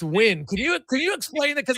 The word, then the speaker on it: Nguyen: I don't totally understand it myself, but it is pronounced Win. An easy way to remember it is I host a podcast called the Just Win podcast, a radio podcast.